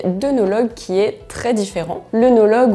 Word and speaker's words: œnologue: qui est très différ l'unologue ou hologue d'ailleurs comme on devrait normalement le prononcer c'est un scientifique d'ailleurs